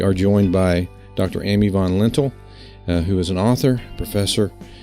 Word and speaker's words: Von Lintel: Amy von lentil who is an author professor and has an